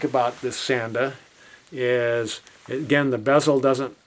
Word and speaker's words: Sanda: So, the next brand I want to talk about that's the Sanda s a n d a and this brand has a pretty good reputation from what I've seen from other YouTube reviewers.